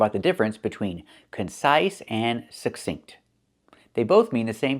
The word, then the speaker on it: succinct: We see two C's. The first C makes the k sound, like in cake, k, k. And the second C makes the s sound, like in star. The K is a stop K. We don't release it. We don't say k. We say suck, make the K position and stop the air.